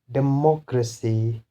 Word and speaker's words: democracy: For example, if we analyze the word democracy, so this is the last syllable, this is the second last, and third last is this one. So we can pronounce it as democracy, democracy.